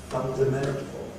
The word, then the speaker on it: fundamental: So we say independence, fundamental, association. Lots and lots of words have 2 stresses.